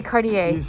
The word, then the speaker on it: Cartier: this is too small for me right they cartier okay there we go guys that's how you